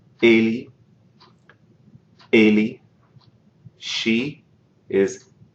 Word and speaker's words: ele: In the third person, for he, it's ele, ele. She is ela, ela. Listen to the difference in how the first vowel of those is pronounced. Ele, ela. They're different.